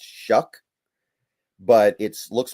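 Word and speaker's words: Shough: It's Tyler Show or Tyler Shuck. I've had some people tell me his name is pronounced Shuck, but it looks like it's spelled show, so whatever.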